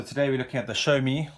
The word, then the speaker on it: Xiaomi: So today we're looking at the Xiaomi, which is the correct way to say it, as opposed to Xiaomi, as you would think to say it, Mi 5.